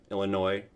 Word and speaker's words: Illinois: this wonderful state of Illinois Illinois there's an S at the end but you don't say it you don't pronounce it uh the town I'm